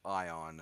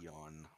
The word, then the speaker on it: Ion: it correctly but yeah his name is Grand carsus ion not eon This Will To Power